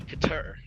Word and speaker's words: Qatar: Being played in Qatar.